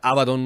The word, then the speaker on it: Abaddon: Y no, resulta que Abaddon se pronuncia Abaddon nomás.